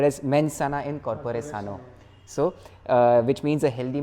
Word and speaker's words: mens sana in corpore sano: So if I'm not pronouncing it wrongly, it's said as mens sana in corpore sano.